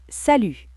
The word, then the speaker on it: salut: Salut, T muet.